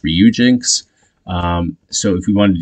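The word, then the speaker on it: Ryujinx: we can access the reuginks emulator uh bear with me if I'm not saying that correctly I believe it's pronounced ryuginx so if we want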